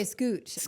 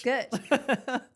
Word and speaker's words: Skutch: I want to say Scooch, but it's Skutch.